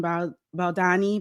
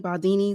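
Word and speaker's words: Baldoni: this this case with Justin Baldani. Baldini is how you say his name.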